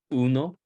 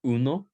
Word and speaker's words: uno: be the first syllable like in Uno everybody say uno uno the first the first word in in bold there which is the number one in Spanish the emphasis is on the EU no Uno okay nueve